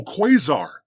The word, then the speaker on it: quasar: quar no quar quar there's no letter r in the first syllable it's it's a thing you find in space a Quai Stella object kind of a uh active Galactic nucleus with extreme Luminosity oh quazar